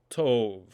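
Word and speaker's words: טוב: But in the word tov, you'll notice that the beit lacks the dagesh and therefore has a v sound, tov, for the word good.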